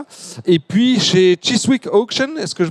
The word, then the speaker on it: Chiswick: Et puis chez Chiswick Auction, est-ce que je prononce ? Chiswick, ouais.